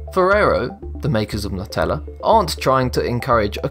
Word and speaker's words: Nutella: Nutella, the hazelnut spread, is pronounced Nutella, right? After all, it's got nuts in it. Well, not quite. According to Ferrero, the company that manufactures it. In the UK, Nutella is acceptable.